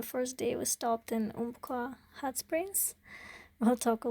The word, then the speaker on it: Umpqua: So yeah, it's you drive through Umpqua National Forest. Do I even pronounce it properly?